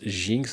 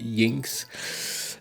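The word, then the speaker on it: Jynx: Je sais pas si l'autrice aurait voulu qu'on prononce Jinx, ça s'écrit J-Y-N-X. Mais moi, je sais que dans les langues nordiques, le J se prononce ye. Donc, je dis Jinx.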